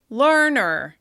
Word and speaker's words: learner: Learner. Listen closely. Can you hear which syllable is stressed?